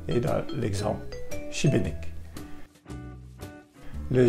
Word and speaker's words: Šibenik: D'abord, le S avec l'accent dessus, c'est le son CH comme dans cheval et dans l'exemple Šibenik.